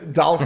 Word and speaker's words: Dolph: you just search the word dolph it rhymes with golf dolph rhymes with golf and